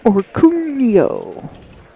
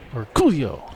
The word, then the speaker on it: Orcullo: number one for two Dennis over Coolio that's how you say it right yep absolutely that's kind of how he said it or Coolio oh yeah or Coolio yes that's how he that's how he told me to say it did you